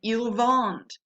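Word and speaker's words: ils vendent: the earlier verbs and ilvonne again ent is always silent on the verb so this time we don't have a boot because eel bond isn't pronounced the same as these three okay so every time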